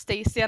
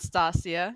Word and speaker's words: Stacia: Yes, it's pronounced Stacia, not Stasia, just so you know.